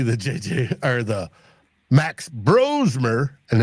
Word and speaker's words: Brosmer: JJ or the Max Brosmer and it's pronounced bro and not bras.